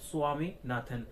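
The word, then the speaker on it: Swaminathan: ছেলে সম্পর্কে কলড স্বামীনাথন প্রোনাউন্সিয়েশনটা হবে স্বামীনাথন স্বামীনাথন নয় কিন্তু ঠিক আছে স্বামীনাথন তাহলে এই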